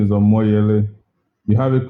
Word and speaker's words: Omoyele: more yearly so it's just to correct that okay i was sent um really i i knew you as a moyeli but you know sometimes